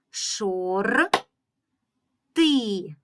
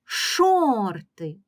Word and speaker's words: шорти: складів у цьому слові Шор ти Отже в слові два склади перший склад Шор другий склад ти гукаємо слово шорти шорти більшою силою голосу ми вимовляємо